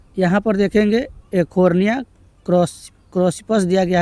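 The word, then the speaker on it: Eichhornia: तो यहाँ पर देखेंगे एकोर्निया क्रॉसिपस दिया गया है, यहाँ पर इकोर्निया भी दिया रहता है। तो इकोर्निया भी यहाँ पर इसका प्रोनाउंसिएशन यानी उच्चारण होता है, जिसे हम लोग जलकुंभी के नाम से जानते हैं।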